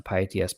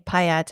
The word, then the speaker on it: pyATS: So shout out to pyATS Blitz for that. But hopefully that answers the question. Yes, thanks for that. And I realize I've been pronouncing it wrong. There's so many acronyms. I've been saying pyATS.